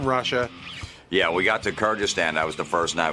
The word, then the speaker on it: Kyrgyzstan: Big debate by the way over the pronunciation Kyakhstan but I've since learned that it's pronounced Kyrgystan and that's in Russia. Yeah. We got to Kyrgystan.